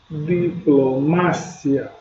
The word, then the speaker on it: diplomacia: Em espanhol, diplomácia. Olha só, a escrita basicamente é a mesma coisa. O que muda no heterotônico é a sílaba tônica. Enquanto no português é diplomacia, no espanhol é diplomácia.